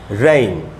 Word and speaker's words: rain: तो इसमें ये जो आई वाला जो ई है उसका उच्चारण नहीं हो रहा, जो पहला वाला ए है उसका सिर्फ उच्चारण हो रहा है, रेन।